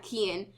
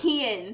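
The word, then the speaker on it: Cian: that reminds me of name his name is Ken he's Irish but it's spelled c i a n c i a yeah Ken so people are like s or like they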